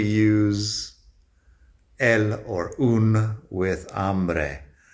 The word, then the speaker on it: hambre: el or un with hambre. Like I said, I hate this rule. The rule is because hambre has the a at the beginning, which is the strong syllable.